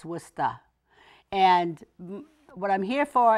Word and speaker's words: Worcester: you'll have to understand that it really is pronounced worcesta it's not Worcester it's wusta and what I'm here for is to let